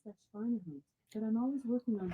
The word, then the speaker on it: Schweinehund: an extent that he finally overcame his inner Schweichenhund? Alexa, how do you pronounce Schweinehund? I pronounce that Schweinehunt, but I'm always working on Oh, how to I say was way off.